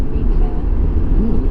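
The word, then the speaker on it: Νίκη: But it means victory in Greek, which you would pronounce in ancient Greek, Nike.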